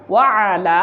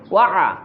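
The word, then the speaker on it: وعلى: তারপর ওয়ালা, আইনটা ভিতর থেকে উচ্চারণ করার চেষ্টা করবেন। ওয়ালা, তারপর ইবাদিল্লাহিস সলিহিন, এখানেও খেয়াল করুন, এটা হচ্ছে আইন, ভিতর থেকে বলতে হয়।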